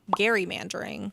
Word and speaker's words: gerrymandering: the term stuck but at some point people stopped pronouncing the word with the hard g there's an argument to be made that we should all be saying gary mandering but that's for another